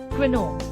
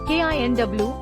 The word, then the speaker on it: quinoa: Incorrect. Quinoa. Correct. KINW. Tip: originating from the Quechua language, it's important to note the keen sound at the beginning.